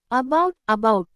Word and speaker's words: about: In the word about, the first letter A is unstressed, no force while speaking. So it doesn't sound like A or A, it becomes a soft A sound. That soft A sound is called schwa sound.